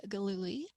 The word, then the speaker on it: Gillooly: but just to say hello we've got haley glooly did i pronounce that right indeed you did awesome calling